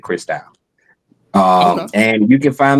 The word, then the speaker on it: Christou: I sang gospel so it's spelled Christ o you but um I pronounce it crystal um and you can find me Chris out on everything.